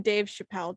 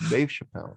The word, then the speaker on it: Dave Chappelle: in LA with comedian Dave Chappelle. Did I say his name right? Yep. Yes, you did. Yeah. Yes, Dave Chappelle.